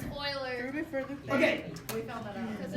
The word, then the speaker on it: Euler: Euler, which is pronounced Euler, but there we go. Yeah. It's Euler.